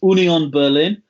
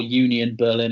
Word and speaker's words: Union Berlin: I'm going to do the correct pronunciation because I'm pretentious. Union Berlin, or Union Berlin if you were going for an anglicised version.